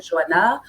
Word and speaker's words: Joanne: Et en portugais, on ne prononce pas Joanne. On ne sait pas prononcer Joanne. Donc, on m'appelle Joanna.